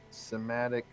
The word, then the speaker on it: somatic: Verbal, somatic, or however you pronounce it.